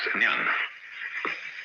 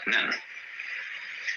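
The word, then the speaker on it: 念: It's pronounced Nyan, in Japanese, Nen.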